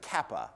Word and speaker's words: kappa: all of that, but the letter there is a kappa. It has a K sound.